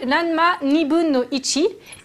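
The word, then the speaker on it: らんま½: Ranma 1,5, ça se dit Ranma Nibun no Ichi.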